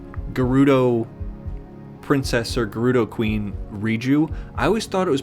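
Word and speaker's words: Riju: I always thought the um the Gerudo princess or Gerudo Queen, Riu, I always thought it was pronounced Ryu. I always thought the J was like pronounced with a Y.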